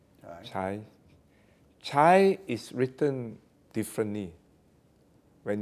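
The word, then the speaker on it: 财: there's a chinese character you can spell it as c a i and it's pronounced as chai chai chai is written differently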